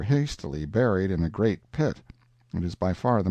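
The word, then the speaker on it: Pali: the frightful precipice of the P pronounced Pi intelligent natives claim that there is no R in the kanaka alphabet in front and then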